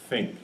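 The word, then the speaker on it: Thync: developing uh by the company called think which is spelled th YN C if you if you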